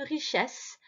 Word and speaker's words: richesse: Attention au E ici qui se prononce est, puisqu'il est devant deux S-E. Devant une double lettre, le E fait le son est. Donc une richesse mal répartie sur la planète.